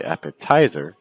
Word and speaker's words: appetizer: You don't want to say appetizer, you want to say appetizer.